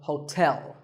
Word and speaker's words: hotel: interesting number 12 is Hotel there are two syllables ho and tell like the English word tell as in tell me the stress is on the second syllable so hotel a related word is